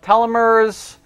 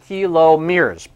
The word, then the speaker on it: telomeres: Otherwise, sometimes we call it telomeres, but it should be pronounced telomeres.